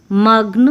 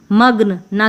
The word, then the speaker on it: मग्न: होगा इसको बोलेंगे ख्वाब यहां पर भी हम बोलेंगे मगना की मगन मगन नहीं बोलेंगे मग्न यहां पर भी विज्ञान